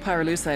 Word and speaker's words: Pyrolusite: You know what pyrolusite is, right? Yeah, neither did I. Pyrolusite, key syllable pyro, by the way, is the shit